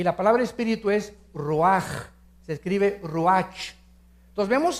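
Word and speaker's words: רוּחַ: Neph se pronuncia nepej porque la ch en hebreo es nepeg y la palabra espíritu es roaj. Se escribe ruach.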